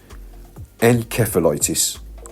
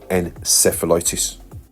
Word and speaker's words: encephalitis: Now this one, which is brain inflammation, is pronounced two different ways: encephalitis or encephalitis. Encephalitis is what they say in the UK, and encephalitis is what they would say over the waters in the USA.